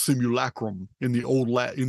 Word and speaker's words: simulacrum: Theory the idea that we live in this similacrum it's pronounced simulacrum in the old lat in the old Latin